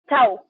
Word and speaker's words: XAU: Chau, ya si lo pronunciamos ahí con la X.